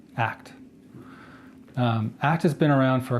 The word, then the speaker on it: ACT: Rob Radel and I'm here to tell you about acceptance and commitment therapy which is spelled a CT but always pronounced as a word act act has been around